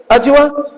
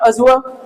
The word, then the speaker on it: adjure: ये क्या हो गया आपका, अजुआ, ठीक है ना, अजुआ, डी और जेड ऐसे करके अजुआ, डी पूरी तरह से अडजुआ नहीं आएगा, अजुआ, ये अबजुआ, ये अजुआ, ठीक है, अजुआ, ठीक है।